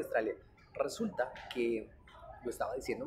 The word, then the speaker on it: Australia: arriba, para abajo, Australia, Australia, Australia. Resulta que lo estaba diciendo mal. Alguien me dijo, no, no, señores, no se dice Australia, se dice Australia. Y yo, Australia. Como estrella.